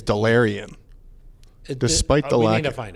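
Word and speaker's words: Delarrin: in the 5th round, Dealerin Turner Yell. Yeah. Turner. I think it's Delarian. Despite the lack, we need to find out. I think based on the pronunciation guides, Delarian Turner Yell. Not Dealerin.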